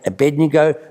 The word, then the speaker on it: Abednego: like to see it i don't know how they pronounce that name but i say abednego you can say it your own way you can correct me